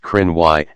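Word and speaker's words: Cruithne: following each other the periodic planetoid is named chrony pronounced Crenn why after an ancient group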